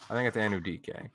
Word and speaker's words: Anudike: I think it's Anudike.